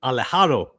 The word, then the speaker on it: Alejado: Micah, I want to pronounce his name correctly. Alejado.